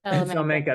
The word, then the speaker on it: Salamanca: We're working to add Salamanca. I'm pronouncing that name wrong. And Salamanca. Salamanca, there it is.